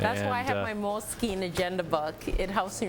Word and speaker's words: Moleskine: stuff really yeah yeah moleskine like mole and then s k i n e okay yeah